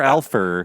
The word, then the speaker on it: Alfur: Is it Alpha or Alfer? On IMDb, it's ALFUR. Oh, really? Okay, yeah. so it's the other thing. There is an R that's not being pronounced instead of an R that's being added.